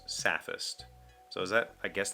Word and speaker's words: sophist: h t i i so I would have said sophist but this pronunciation guy specifically says sapphist so is that I